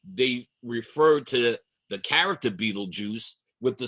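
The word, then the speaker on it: Betelgeuse: It looks like Beetlegeist, but it is pronounced Beetlejuice. I'm told by Well, YouTube tells us as YouTube tells us that it is still pronounced Beetlejuice.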